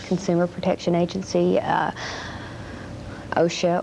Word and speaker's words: OSHA: consumer protection agency uh osha or asha as some pronounce it those kind of agencies